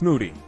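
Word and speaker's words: Mudi: As it's a messy muncher and loves to play in muddy conditions, Moody, pronounced Moody.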